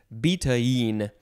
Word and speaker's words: betaine: The pronunciation guide says betaine, which is hard to say.